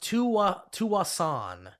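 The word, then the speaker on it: Tsawwassen: columbia uh it's pronounced tuwa to assan the s is silent what did you say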